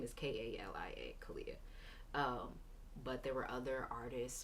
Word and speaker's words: Kalia: didn't want it to be how I normally spell it the regular spelling of my name is k-a-l-i-a Kalia um but there were other artists or